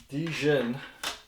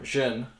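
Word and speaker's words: Djinn: over 20 years, the Dijin, or Jin, because the D is silent, right?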